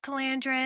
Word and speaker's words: Calandra: It is pronounced Calandra in the You did tell audiobook.